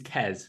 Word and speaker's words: Qais: that doesn't know this is uh this is kez that's how you're supposed to say his name